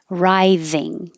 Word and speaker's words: writhing: excruciating excruciating excruciating pain writhing I put this th in bold to remind you that the th is the voiced V like that Rising all of these sound